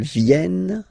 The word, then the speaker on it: viennent: Ils viennent, elles viennent. All right? E-N-T, you don't pronounce them.